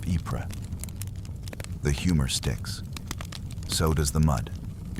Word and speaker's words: Ypres: A sign reads "Wipers," a soldier's mispronunciation of Ypres.